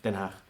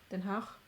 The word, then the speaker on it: Den Haag: Now, how do you pronounce it? Den Haag. Den Haag.